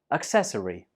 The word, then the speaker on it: accessory: Accessory, and the stress is on the second syllable. Altogether, accessory.